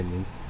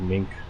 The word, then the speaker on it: Minsk: flew into minsk uh minsk i always say it wrong i don't say means i always say like mink or something all right uh fuel